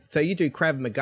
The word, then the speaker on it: Krav Maga: Yeah, you do Krav Maga. How do you pronounce it? Yeah, no, you nailed it. Krav Maga.